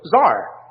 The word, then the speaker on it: tsar: realm you had a man whose title was tsar as we pronounce it in english spelled out generally c-z-a-r